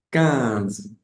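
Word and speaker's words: quinze: decimos entonces 14 14 y el 15 en francés se pronuncia can can K así como el número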